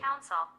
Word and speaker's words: council: হ্যাঁ, এটা কিন্তু কাউন্সিল বলি আমরা নরমালি, কিন্তু এটাকে আর সেল বলবো না এখন থেকে।